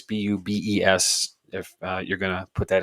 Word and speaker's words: Bubes: A place called Booby's Brewery. It's Bubes.